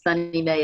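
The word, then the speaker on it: SONYMA: I love the different kinds of pronunciations on that. It's Sunny Mae, everybody, just so you know.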